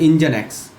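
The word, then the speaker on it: NGINX: I N X this you know this is pronounced as engine X.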